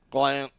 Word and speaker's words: Gallant: That's how he wants his name pronounced. Gallant.